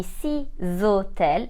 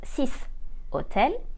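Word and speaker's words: six hôtels: h as a result six hotels will be C zotel and not sis Hotel eight starters is and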